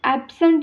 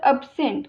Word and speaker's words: absent: याचं pronunciation ॲब्सेंट आहे. बरेच लोक हे उच्चार काय करतात तर अब्सेंट, बट absent is wrong pronunciation. The correct pronunciation is absent.